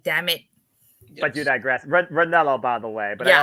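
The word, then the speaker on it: Ranallo: As I was listening to what you guys are talking about, Mauro Moreno from our NXT, damn it. But you digress. Ranello, by the way.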